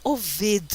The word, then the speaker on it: Obed: E Obed, na realidade Oved se pronuncia, mas nas Bíblias está Obed, né?